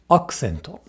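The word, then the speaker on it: アクセント: Is the U voiced here? Well, it occurs between a K, K, K and an S. S. These are both unvoiced consonants. Thus, the U becomes devoiced. Again, not K, but K. Accento.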